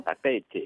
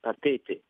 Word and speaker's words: Papeete: Papeete. Ah, j'ai l'accent, hein. Papeete. Je suis prête à y aller. On insiste sur le 2 E. Ouais, Papeete.